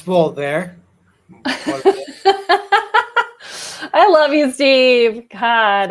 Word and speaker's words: Volver: But if you do find it and see it, remember that the pronunciation is Volver. Volver.